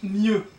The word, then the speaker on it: mieux: That becomes plus bien, doesn't exist, and that becomes mieux. So mieux, with an X at the end but you don't pronounce it, mieux means plus bien.